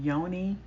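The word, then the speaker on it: Yoneigh: is by um Yoni, but it's spelled Y O N E I G H.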